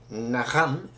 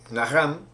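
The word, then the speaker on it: נחם: Vamos a comenzar definiendo que viene de la palabra que como verbo se pronuncia Naham, como verbo arrepentirse, Naham, y como sustantivo es Nehum.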